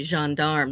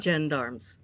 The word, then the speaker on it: gendarme: with ground-up cats no we don't say jean darm like they do in france we pronounce the G like the jug in fridge gorillas and gendarme we all call the